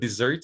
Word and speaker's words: dessert: desert as well right but dessert is interesting because it's double s right it's a caesars double s in the middle it's pronounced uh with voicing right scissors and possessive is